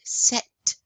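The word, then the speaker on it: sept: Ah, we are pronouncing that T at the end. Set.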